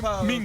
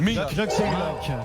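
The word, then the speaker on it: Minc: si on a la bonne réponse, mais qu'on prononce le nom n'importe comment, est-ce que ça compte ou ça compte pas? C'était hier. Mink. Comment il s'appelle? Mink.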